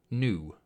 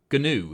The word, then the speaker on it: gnu: either hippopotamia armadillos platypi new GNU is that you pronounce it gnu it's a large bird